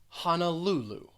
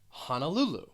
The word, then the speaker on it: Honolulu: uh sound hannah and the third syllable is the one that's stressed honolulu honolulu then we have juno